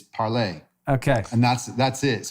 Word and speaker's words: Parler: i don't know he's saying it's called parley how do you pronounce it i'm just saying that i don't know that you know the word to speak in french is parlay okay and that's that's